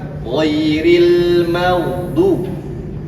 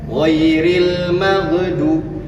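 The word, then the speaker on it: غير المغضوب: Contoh, saya pernah mendengar pada kalimat ghairil magdu yang idealnya seperti itu. Tetapi ada saja yang baca giril magdu itu kan mantul. Itu yang keliru cara membacanya.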